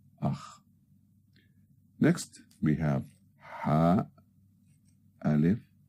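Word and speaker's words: أخ: Alif has a hamza above it, so we pronounce it as a, and the khaa. So it's akh, which means brother, akh.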